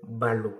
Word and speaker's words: ballot: le mot le vrai mot utilisé c'est nouveau ballot Ballo c'est mon français qui s'écrit B a deux l o T qui